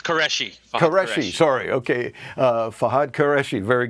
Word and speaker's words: Qureshi: It's Qureshi.